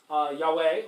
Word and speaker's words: Yahweh: They're often represented by YH, WH, and actually there are two different accepted pronunciations of Yahweh. Yahweh, which looks correct, but also Jehovah.